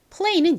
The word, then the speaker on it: play: 리을 받침 넣어서 play.